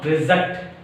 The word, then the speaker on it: reject: Last one. Reject. Reject. Reject. I want to reject your proposal. I want to reject your proposal. Reject. Reject. Reject. Here reject.